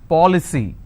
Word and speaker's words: policy: with cy for example policy how many syllables three paw ple c now here the rule says i need to stress on the third from right which means i will stress on paul i just bought an